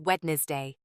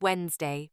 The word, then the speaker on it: Wednesday: Pronouncing Wednesday as Wednesday. It's pronounced Wednesday, pronouncing det with a B.